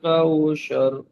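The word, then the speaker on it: كوثر: কাউসার এখানে সার বলছে এটা কিন্তু সার নয় সার এখানে আপনার জীবের আগা এবং সামনের উপরে দুই দাঁতের আগার সঙ্গে লাগিয়ে উচ্চারণ হবে সাত হ্যা পাতলা আর আরেকটা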